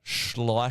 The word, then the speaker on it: Schleicher: Nailed the pronunciation. Schleicher.